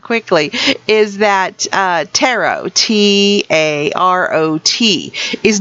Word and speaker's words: tarot: is that uh tarot t a r o t is not pronounced in a way that rhymes with carrot it's not taret so don't go into